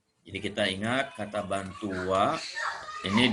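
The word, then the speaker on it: は: Jadi kita ingat kata bantu wa ini ditulis dengan huruf hiragana H ya, dengan huruf H ini. Tapi dibacanya wa ya.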